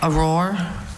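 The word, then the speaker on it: aurore: Auror. Auror. That's the only pronunciation, right?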